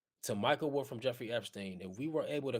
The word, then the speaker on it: Epstein: Epstein.